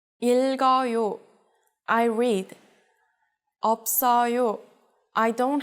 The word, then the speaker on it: 읽어요: If the following syllable begins with a vowel sound, you will split up the double consonants across the syllables. In all cases, only the last consonant will jump over. 읽어요.